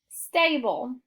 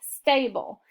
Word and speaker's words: stable: This first syllable follows phonetic skill 3, so our A is going to be long, and we have an LE. So we're going to mark our E silent, put the schwa before the L, and box that in. The first syllable says stay. The second syllable says bowl. We're going to put it together. It says stable.